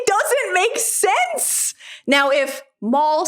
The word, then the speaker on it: Mal: character is not American, but the fact that Mal, M-A-L, which also happens to be my name, is pronounced by every other character in the movie as Darth Maul is...